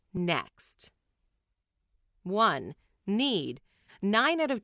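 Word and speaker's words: NECST: to form a memorable acronym n-e-c-s-t pronounced next one need nine out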